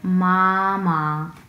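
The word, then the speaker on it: 妈妈: এর পরের অংশ দেখি এই পাশে, এটা হচ্ছে মামা মামা মামা, হ্যাঁ মামা। প্রথম অংশ এবং দ্বিতীয় অংশ দুটাই সমতল ভাবে উচ্চারণ হবে, কারণ দুটাই হচ্ছে প্রথম টোন।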